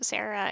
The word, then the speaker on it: Sara: focuses on twin sisters Sarah and Lucy or Sara and Lucy um if you want to go by the Dutch pronunciation.